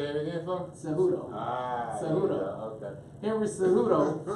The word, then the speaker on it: Cejudo: Cejudo. Say it again, folks. Cejudo.